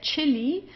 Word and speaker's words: Chili: Then here chili uh here it's pronounced just as in English as a ch.